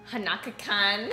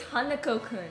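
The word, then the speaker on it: Hanako-kun: the bounty not khan hanaka khan i don't know how to say the it's hanako kun i'm gonna say i'm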